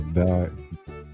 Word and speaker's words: dais: Don't touch the silver bowl on the dais. How you pronounce that? Dais. Dais.